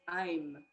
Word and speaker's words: aim: going to chant is i'm a-i-m it looks like aim but it's spelled a-i-m but pronounced i'm an i'm is the